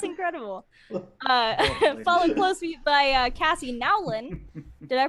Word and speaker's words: Nowlin: Followed closely by Cassie Nowlin. Did I pronounce that correctly?